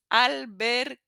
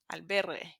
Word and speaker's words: albergue: I've heard it mispronounced so many times. So it's albergue, albergue, albergue, which means hostel.